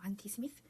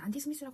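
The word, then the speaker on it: anti-Sm: 뭐 ANA 안티 어 더블 스트랜드 DNA 어 안티스미 이게 그 발음은 안티스미스라고 하는게 맞는데 어네 제가 SM로 처음에 그냥 연상을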